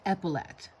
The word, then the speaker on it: epaulette: Googled it again and it's epaulette. That's how it's pronounced.